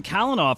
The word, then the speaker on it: Calinoff: we're joined by kenoff I got your last name right I think right yep that was that was a great pronunciation there so yeah I'm happy